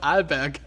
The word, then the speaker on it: Arlberg: always with so many Americans that I start pronouncing it Arlberg too. In my episode, I realized, I'm saying Arlberg. It's actually called Arlberg.